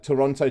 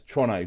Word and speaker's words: Toronto: like Toronto in Canada it's like Toronto to most people and then it's tono to people that are up there it's just said faster it is they are different words there are different pronunciations of what they are they are correc in your pronunciation it's not just the accent it's how they're said for those for those